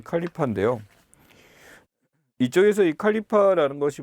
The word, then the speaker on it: 칼리파: 보시면 됩니다 우리 책의 칼리파 라고 나왔는데 칼리프 라는게 영어식 발음 이에요 그래서 전 톡으로 는